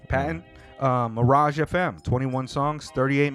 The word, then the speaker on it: Patten: That's how you pronounce it? Yeah, Patten. Patten.